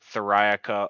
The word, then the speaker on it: Theriaca: uh Facebook Instagram and YouTube are all at thirayaka official and for anybody out there that's just